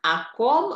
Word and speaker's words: о ком: О ком она часто рассказывает. О ком она часто рассказывает. Oh, di depan itu dibacanya A ya. Dianggap dia jadi satu dengan kata yang sesudahnya.